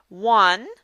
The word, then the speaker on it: one: much and also in one because one is pronounced w-u-n and also in the